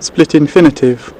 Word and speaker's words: split infinitive: स्प्लिट इन्फिनेटिव जी pronunciation तव्हां ॿुधंदासीं असां ब्रिटिश इंग्लिश में। Split infinitive.